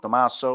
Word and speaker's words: Tommaso: you know even though sometimes i pronounce my name tommaso which is how it's supposed to be the j could be